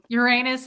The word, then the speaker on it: Uranus: It's just what it Uranus is. sounds weird. Now it just sounds like the word urine.